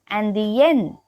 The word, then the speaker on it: indien: Je suis indienne. Je suis indienne. It means I am Indian. So here the masculine version is pronounced as indien. Indien. And the feminine version is pronounced as indienne. Indienne.